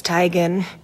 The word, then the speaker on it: Teigen: back in the day the first person who said Tegan you said I'm sorry it's actually tigon and then we're done